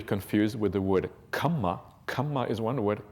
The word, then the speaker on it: kamma: There's a slight difference in pronunciation that is often missed by people who don't have an Indian background. The kamma is a double M, and it's pronounced as if kamma twice. Kama is a long A sound, and it's different.